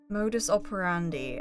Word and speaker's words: modus operandi: Modus operandi, actually. Apparently. Not E. But the Cambridge Dictionary pronunciation is telling me it's D.